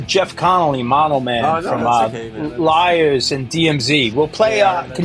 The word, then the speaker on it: Lyres: Liars. Liars is spelled Lyres. Okay, like the instrument.